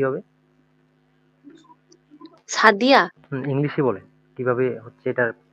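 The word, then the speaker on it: Sadia: English আর জার্মানিতে আমাদের কি উচ্চারণ ভিন্ন ভিন্ন হচ্ছে? না। না হচ্ছে না।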